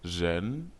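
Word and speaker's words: 人: La lettre R constitue l'initiale et les lettres EN constituent la finale. Dans la langue chinoise, l'initiale R se lit comme dans le mot juan.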